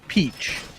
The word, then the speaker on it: Peach: Peach. Like the fruit. Okay. It's pronounced peach.